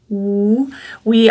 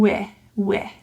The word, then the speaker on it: we: away from your teeth, we also have our E vowels, so we want to avoid neutralizing wi. This involves a full E. That means a tense feeling. The middle of your tongue is high in the mouth.